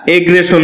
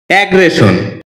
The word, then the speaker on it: aggression: অ্যাগ্রেশন, এটাকে আমরা এগ্রেশন বলে থাকি, যার সঠিক উচ্চারণ হচ্ছে অ্যাগ্রেশন।